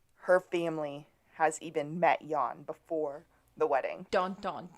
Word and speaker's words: Jan: Yeah, I called him Jan, and when I spelled Jan in my notes, I spelled it Y-A-W-N so I would know how to pronounce it.